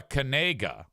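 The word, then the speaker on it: Knigga: His name is Noah Kanega. The problem is the last name is spelled K N I G G A.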